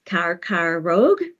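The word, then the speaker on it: कर्करोग: so for example in Hindi the word is pronounced carar Rogue and what it is is a compound of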